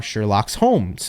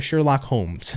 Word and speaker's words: Sherlock Holmes: do because you are Sherlock's homes okay or Sherlock Holmes there you go that's how you say it anyways Pisces coming on